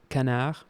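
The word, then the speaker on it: canard: Um, in French it's called Canar.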